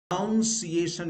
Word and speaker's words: pronunciation: not sure whether my pronunciation is correct. So the pronunciation is pronounced as pronunciation.